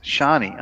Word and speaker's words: Siani: Mikey's saying the literal translation of the Welsh insult Siani, pronounced Shani.